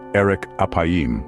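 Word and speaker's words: ארך אפים: the phrasee slow to anger in Hebrew is pronounced Eric apim or literally long of nose but what does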